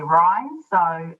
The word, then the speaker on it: REINZ: of people struggle with how do you say ryan so it's ryan's and i'll refer to